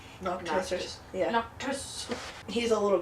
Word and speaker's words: Noctis: Noctis.